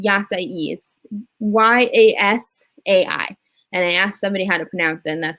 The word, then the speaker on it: yasai: the dish that i get there is called yasai y-a-s-a-i and i asked somebody how to pronounce it and that's how they say it